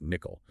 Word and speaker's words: NCCL: For distributed training, this often means looking at Nvidia's NCCL, pronounced nickel.